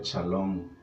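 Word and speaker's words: שלום: las puede ofrecer dios la palabra paz en hebreo se pronuncia charlone y es una de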